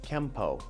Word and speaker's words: Kenpo: Japanese it becomes Kenpo now in the rules of kanji when a character ends with the letter N it will be pronounced with the n Sound unless it's followed by a character that starts with p in that instance the N makes an m sound so technically speaking it should be spelled Keno but pronounced Kempo now through romanization you will sometimes find it also spelled with the m and at this point